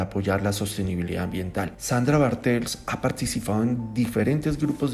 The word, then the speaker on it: Bartels: Me da un placer poder moderar esta conferencia magistral a cargo de la doctora Sandra Bartels. ¿Sí está bien pronunciado?